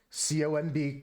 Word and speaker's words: comb: No, it's an old joke, Camden, about English and pronunciation, like T-O-M-B, tomb, and C-O-M-B, comb. Like how the pronunciation of the ohm and the is just different arbitrarily. There's no actual rule.